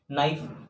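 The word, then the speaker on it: knife: दोनों यहां पे ट्रांसफर दो कॉन्सोनेंट है तो इस कैसे में फर्स्ट वाले कॉन्सोनेंट को हम साइलेंट कर देते हैं मतलब हमारा जो के है इसको साइलेंट बोलते हैं ऑब्वियस सी बात है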